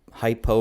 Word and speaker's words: hypo: is is the hypo hypo rhymes with low so just kind of